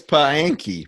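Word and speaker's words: Paanchi: It's Paanki. Paanki.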